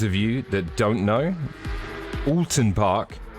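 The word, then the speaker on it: Oulton Park: you that don't know alton park as it's correctly pronounced looks like this it's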